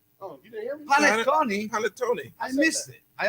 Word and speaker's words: panettone: like with the cakes, like what is it, bonito cake? He's not saying it right. Go ahead. No, that's okay. Boniton.